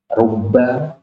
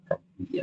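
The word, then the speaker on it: رُبَّ: minim Ila an ala Bi rubba bukan rbi ya rubba kemudian Alba kalau disebut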